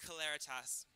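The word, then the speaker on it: Celeritas: your name it's pronounced claritas and why have we chosen this name for this competition it's it's actually a latin term um representing swiftness speed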